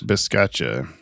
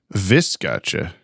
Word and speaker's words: viscacha: Biscacha, this burrowing South American rodent. Is that how you say it? One moment, please. Viscacha. What? I'm sorry, what? It has a B?